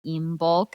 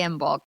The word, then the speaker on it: Imbolc: had our Imbolc meeting, which I think it's pronounced Imbolc, and I apologize, but it's so ingrained in me to say Imbolc.